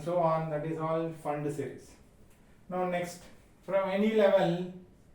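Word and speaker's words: Pfund: you call it as fund series. P is silent here, it is called fund series.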